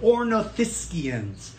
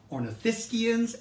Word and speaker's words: ornithischians: lizard him and the others are are called ornithischians that means bird hip that is spelled o are n I th is ch